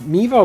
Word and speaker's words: Meaver: Let's go, let's talk about, I'm so bad with names, Meaver? Oh, Meaver like Beaver. Meaver like Beaver, that's how I remember how to say her name, Meaver like Beaver.